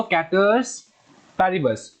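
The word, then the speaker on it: ceteris paribus: assumptions में सबसे पहले देखो, द लॉ of demand based on the following कैटर्स पैरिबस, ठीक है, इसका जो प्रोनाउंसिएशन है ये क्या होगा, कैटर्स, बोलो कैटर्स पैरिबस, ठीक है, assumption, इसका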